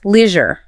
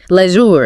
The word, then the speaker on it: leisure: In British English, native speakers usually use a short e sound. They say "lezure".